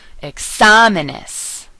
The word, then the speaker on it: exámenes: Always stress the vowel that has an accent mark. Okay, so if you see an accent mark over one of the vowels, that is the syllable that you will stress. For example, exámenes. And I'm enunciating a little extra just so you can hear it.